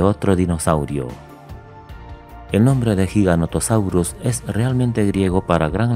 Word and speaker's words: giganotosaurio: Fósil de giganotosaurio. Su nombre a menudo se pronuncia mal como gigantosaurio, un nombre que sería